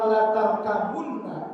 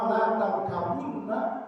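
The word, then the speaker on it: لَتَرْكَبُنَّ: Makna yang kedua, ada qiraah yang membacanya bukan la tarkabunna, tapi la tarkabanna. La tarkabanna, ba-nya difathahkan, la tarkabanna. Kalau tadi yang pertama la tarkabunna, kalau ini la tarkabanna.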